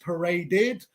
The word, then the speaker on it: paraded: the part the past tense of parade is pronounced paraded true or false true this is correct why